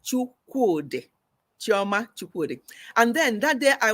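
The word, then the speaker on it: Chukwudi: It's a Chioma Chukwude. Not Chukunde. Chuku, C-H-U-K-W-U-D-I, no N-D-I. C-H-U-K-W-U-D-I, Chukwude. That's how you say it, Chukwude. Yes, so that's how her name is said.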